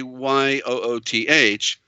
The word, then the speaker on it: Yud: And so the dot is Yud is the abbreviation of, but it's correctly this, but it's correctly YOOTH. Okay, like that.